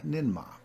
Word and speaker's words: Ninhursag: the surian tradition is ninag pronunciation varies or nma in myth she is